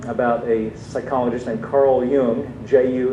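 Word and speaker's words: Jung: a book um about a psychologist named Carl Yung ju n is the way his name is spelled and then th those who kind of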